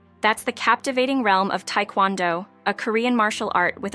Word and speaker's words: Taekwondo: the captivating history that shaped its Evolution Taekwondo pronounced tondo is not just a sport it's a martial